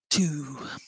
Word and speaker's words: two: first word to what's difficult about spelling too why might it be confusing or complicated to somebody that's first seeing this word written down it's that silent w isn't it and especially as